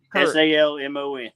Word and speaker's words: salmon: you pronounce the L the L is silent okay thank you but s-a-l-m-o-n all right here's what